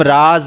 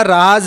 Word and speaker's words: राज़: तो जो यह वाला राज है जिसको हम उच्चारण करते समय हमें इसका प्रभाव दिखाई देगा तो इस वाले का जो अर्थ होगा वो गुप्त बात हो जाएगा।